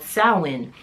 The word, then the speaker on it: Samhain: But it was also a pagan holiday called Samhain. The name is a little bit weird, but I'm gonna insert the actual word here, but it's pronounced Samhain.